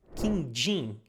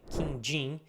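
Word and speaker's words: quindim: trying so next one is a sweet called King Jing well pay attention to the pronunciation King Jing it's yellow round it's like it looks like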